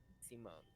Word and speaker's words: Simone: Simone. Let me write that down. E-O-N? Uh, it's spelled like Simon.